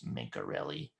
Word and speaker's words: Mencarelli: I had to ask him how to pronounce it. It's Mencarelli.